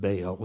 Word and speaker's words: Baal: They worshiped the god, we pronounce it Baal, it was probably actually pronounced Baal.